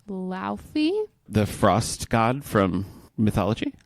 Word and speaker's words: Laufey: I have been listening to, I think the singer's name is pronounced Laufey.